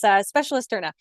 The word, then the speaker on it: Specialisterne: Don't worry, it is a tough word, and I think I also mispronounced it before I started to work at the organization. So not to worry, it's Specialisterne.